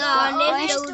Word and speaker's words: honest: यच क्या है इसमें? साइलेंट हो गया, तो ये हो गया ऑनेस्ट।